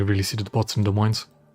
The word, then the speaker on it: Des Moines: Yeah, you only really see the bots in Des Moines. Des Moines, you don't pronounce last S.